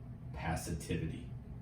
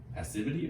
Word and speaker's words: passivity: chapter is this: reject passivity. Is that a word? Passivity or passivity? I think it can be pronounced either way.